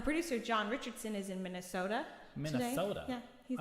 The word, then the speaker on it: Minnesota: it's like a really small can of Coke, mini soda. Oh gosh. And that is the comedy. There we go. So if you ever need to know how to say it, mini soda.